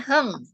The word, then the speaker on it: hang: i w Bacanya apa hang apa hang hang bacanya Heng Oh i hang itu bukannya karena a ya